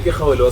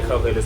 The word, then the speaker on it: Khauhelo: Yeah, so Khauhelo so yeah, Khauhelo still pronounced the same, but with an H, so it's KH.